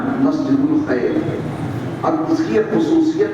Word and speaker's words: مسجد الخیف: اور اس کا نام ہے مسجد الخیف۔ مسجد الخیف، مسجد خیف لوگ کہتے ہیں اپنی زبان میں، اس کا صحیح تلفظ میں نے بتایا مسجد الخیف۔ اب اس کی ایک